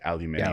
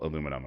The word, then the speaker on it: aluminium: So yeah, it's like aluminium. Alium. Yeah, but because we Americans are just like, well, we only want to pronounce them one way. It's all aluminum across the board.